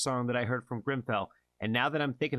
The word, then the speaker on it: Grimfel: I believe the pronunciation is Grimfel, and the song is called Against Us.